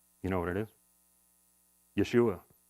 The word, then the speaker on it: Yeshua: know what it is Yeshua Yeshua which of course we pronounce or Joshua Jesus or Joshua right um just like the